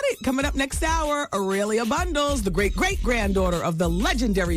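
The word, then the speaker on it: A'Lelia Bundles: I was saying her name wrong at first. It's Ailia Bundles.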